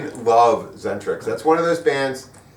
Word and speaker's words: Xentrix: band again oh yeah zentrix that's how you say it it's very exentric zentrix they recently played their